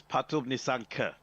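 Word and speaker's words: Pathum Nissanka: And I've just checked, it's Patub Nisanka. That is the official pronunciation of his name.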